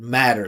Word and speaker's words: matter: This is the best I've heard matter. Listen how he said that. He kept the vibration. He focused on the vowel sound. He did the flap T. He made it musical.